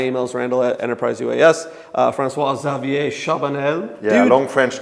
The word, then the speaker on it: Charbonnel: Uh François-Xavier Chabanel, Yeah, long French name. do you pronounce the L at the end? The L at the end. Chabanel, yeah.